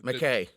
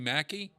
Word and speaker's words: McKay: You can pronounce McKay Mackey.